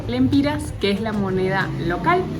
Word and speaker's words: lempira: Aunque saliendo de Nicaragua no nos aceptaron córdobas, solo aceptaban dólares, pero entrando a Honduras podías pagar con dólares o lempiras, que es la moneda local.